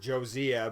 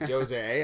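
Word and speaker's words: Jozea: well they've nominated I I said it wrong I was like josa but it's Jose I guess and he's a Terri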